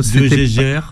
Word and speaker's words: de Jaeger: un peu les noms ah de GG c'est de GG tout bêtement tout simplement alors vous êtes médecin